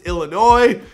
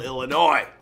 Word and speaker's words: Illinois: He also explained to me how to properly pronounce Illinois, so thanks for that. I didn't know the S was silent.